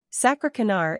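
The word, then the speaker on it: sakrekenaar: really it means calculator the first part sack is like sack the second is ARA like really just take away the LL y the third is co like cool just take away the all the last part is Nar like nor the next word is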